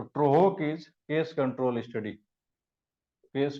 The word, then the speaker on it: TROHC: अब case control को कहीं कहीं ऐसे लिखा गया है, इसका उल्टा इधर से जैसे लिखिए, इसको बोलते हैं TROHC, ट्रोहोक इसको बोला जाता है। तो ट्रोहोक is case control study, case control, क्योंकि दोनों एक दूसरे का अपोजिट है।